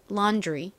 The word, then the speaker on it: laundry: 발음 해볼게요. laundry. 한 번 더 해볼까요? laundry.